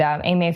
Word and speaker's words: Aimer: So at Cascadia 2017, I was thrilled to see multiple submissions come in from AMA Films.